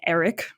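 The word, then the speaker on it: Arryk: And she sent one of her little minions off to contact Eric and Eric, which is two twins, both basically pronounced Eric, but one is spelled with an E and one is spelled with an A.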